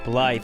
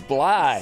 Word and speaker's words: Blythe: not going good no you mispronounced my last name oh did I yeah but nobody it's b b no it's blide the t is silent like to pee in